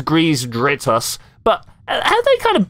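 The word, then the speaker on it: Greez Dritus: And I'm just looking at his name, going, "Grease Detritus." Is that kind of something they've worked? That's not how that is pronounced. It's Grease Dritus.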